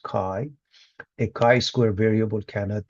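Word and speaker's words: chi: The symbol of ki squared it's a Greek letter kai pronounced kai.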